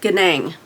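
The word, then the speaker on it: Nganang: um Patrice I'm gonna I think the N is silent I'm gonna say Patrice ganang okay and this is the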